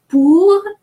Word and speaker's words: pour: Pour is an exception, the final R is pronounced, and il is an exception, the final L is pronounced.